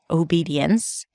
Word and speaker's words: obedience: about the pronunciation of obedience because there are two the first one is O as in go at the beginning then B High e and then another high e in the next syllable D so OBD